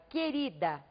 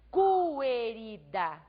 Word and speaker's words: querida: colocar aqui a palavra querida veja e observe vocês que eu não pronuncio cooler ida vejam que eu escrevo o quê e o mais a letra u não é pronunciada então eu preciso de